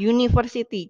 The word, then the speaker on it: university: bacanya menggunakan huruf shonan contohnya University penulisannya menggunakan huruf tua atau diawali huruf u101 huruf vokal tapi cara bacanya menggunakan konsonan University jadi kita menggunakan a contoh